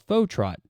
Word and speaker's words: Fauxtrot: out a band called fa Trot I believe is how it's pronounced I hope so I'm only connecting it because of fauxhawk and fauxhawk is spelled the same way for the hairstyle Trend